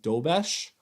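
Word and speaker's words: Dobeš: Their new goalie, I believe his name is pronounced Dobesh, has been unbelievable.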